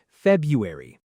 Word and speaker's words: February: February, but native speakers often skip a sound, saying February.